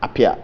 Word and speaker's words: Apea: So what's the right pronunciation? It's just Apia.